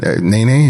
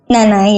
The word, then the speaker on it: Nanay: You mentioned your Nene, is that how you say it? Nanay, yeah, Nanay. Nanay, which is a woman that helped raise you.